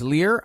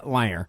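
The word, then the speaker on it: lyre: So, uh he actually played a liar, which many people uh erroneously pronounce as Lear, but it is actually pronounced liar.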